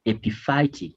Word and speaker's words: epiphytic: you should always do read these words in syllables now this is ap by it then roots ap phytic roots don't try to look at the why the whole family they won't fail to pronounce it so this is epi phytic roots now epiphytic roots are